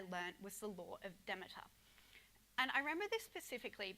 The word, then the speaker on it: Demeter: yes it is pronounced Demeter although this does depend on which dialect of Greek that you're speaking so thanks to Demeter